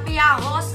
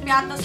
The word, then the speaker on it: Piattos: Hindi totoo ang inyo ang mga kumakalat sa Facebook na Piaros ang tamang pronunciation ng Piatos. Piatos po talaga, wag po kayong pauso.